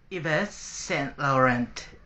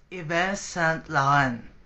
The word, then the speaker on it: Yves Saint Laurent: are you aware about the brand name like ev St laurent As You say in English right if St